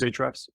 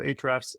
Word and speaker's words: Ahrefs: I use Ahrefs, which is one of the top 3 kind of SEO analysis tools. Ahrefs, it's spelled Ahrefs. Oh, like the links, like the link tag in HTML.